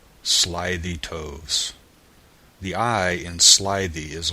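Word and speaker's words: slithy toves: that has often been asked me how to pronounce slyy toes the eye in slyy is long as in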